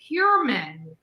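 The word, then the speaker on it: Heuermann: that the Google pronunciation was There you- incorrect, because my understanding is it's Hurman.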